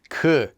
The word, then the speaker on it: 그: e uma this music next we have that qu now qu is also used before a noun in the